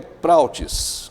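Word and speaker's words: πραΰτης: mansidão BA a mansidão o grego é plautis é assim que se pronuncia Professor tem a ver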